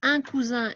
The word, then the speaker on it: cousin: cousin d'accord donc de nouveau on répète ici un cousin il y à un seul s on prononce the ici un coussin il y à